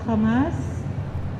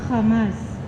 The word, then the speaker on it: Hamas: yung kaba ko kasi alam ko po yung kamas o hamas dito sa Philippines pero yung pronunciation po sa israel is hamas Alam ko po na